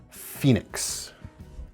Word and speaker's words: Fenix: This is the Fox-designed Fenix. Spelled like the flashlight company, actually, F-E-N-I-X.